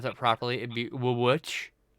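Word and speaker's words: VVitch: Not realizing that it's not actually two V's, it's actually a W. So if you were gonna pronounce that properly, it'd be Witch.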